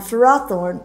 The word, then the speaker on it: Ferrothorn: extra little boost uh and then also on Ferrothorn which guys listen I don't like to call